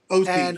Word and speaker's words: Ohse: I hope I pronounced that correctly. Yeah. Ohse, actually. It's Ohse. Ohse.